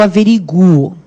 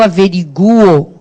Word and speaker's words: averiguo: A pronúncia vai ser assim, ó, eu averiguo. Vocês estão vendo que eu coloquei aí um sublinhado no U, justamente para quando vocês forem retomar o estudo em cima disso aqui, vocês saberem como é que funciona. Então, não é sílaba tônica nem nada, é só para vocês saberem que esse U é forte e que a pronúncia é esta que eu acabei de fazer.